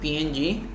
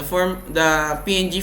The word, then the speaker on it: PNG: And lastly is the PNG or ping. I think it's pronounced ping, okay, but I pronounce it PNG because it's more accurate, I think.